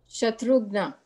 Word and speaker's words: Shatrughan: His first name is something like Shatrughan, but I don't know how to pronounce it because he was always known as Kumar. Anybody help me on the pronunciation of Kumar's first name? Shatrugna.